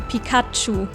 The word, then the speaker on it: Pikachu: sounds better and yes this is how we pronounce it in german pikachu guy raichu comes from thunder and shu means